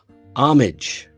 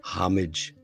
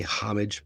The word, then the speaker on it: homage: those this is uh one of those h words where the H Is So Silent you might as well not even have it there homage some people say homage but it is actually